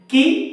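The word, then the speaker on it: قِ: Calf জের কি, জিহ্বার গোড়া থেকে একটু সামনে কি। কফ জের কি, জিহ্বার গোড়া উপরের তাল কি, তাহলে কি হলো দুই কি কি, দুই কি কি।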